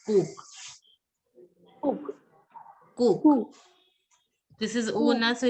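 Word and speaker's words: coq: Cock is pronounced as coke.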